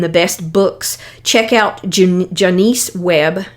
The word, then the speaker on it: Jonice: best books check out janiece webb it's hard for me to say her name it's like janus but with an o j o n i e web w-e-b-b and childhood